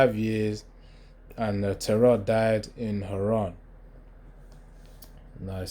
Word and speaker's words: Haran: years, and Terah died in Haran.